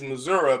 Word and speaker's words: Missouri: a country boy and the proper way to say it is Missouri because it is a Gadite name and the Gadites called